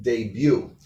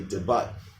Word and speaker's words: debut: Now, it ends in T, so it's not one of the ones that's pronounced. Debut. A lot of students mess up and say debut.